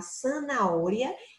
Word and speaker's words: zanahoria: Observe que la palabra zanahoria se escribe con la Z, mas el son es de C, ¿no? Zanahoria. E nós temos aqui também um H mudo no meio da palavra.